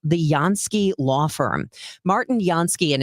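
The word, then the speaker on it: Jansky: The Yansky Law Firm can help you with all of that. It is spelled Jan Ky.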